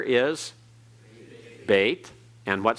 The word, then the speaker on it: Beit: The second letter is Beit. And what sound does it have? B, just the same sound it has at the beginning.